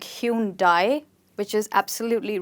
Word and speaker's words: Hyundai: So you'd call it Hyundai, Hyundai, or Hyundai if you say it very quickly, and not Hyundai.